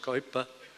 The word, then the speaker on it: Kuyper: said of the famous Abraham Kuyper who rightly pronounced coiba who was prime minister